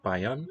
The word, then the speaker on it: Bayern: Der Käse kommt aus Bayern. One of the states in Germany, we call it Bavaria. Der Käse kommt aus Bayern. And the R in the name, Bayern, is not sounded as a consonant.